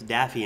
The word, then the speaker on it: Daffy: the bill or Daffy it's not daffne it's Daffy and Donald the Bill's very